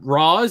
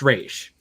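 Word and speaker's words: Ra's: first aired but i think he calls him roz and then he's like no it's pronounced rage so what wrong little [ __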